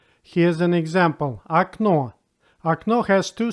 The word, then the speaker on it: окно: If the letter O is not under stress, then it's pronounced like A. Here's an example. Окно.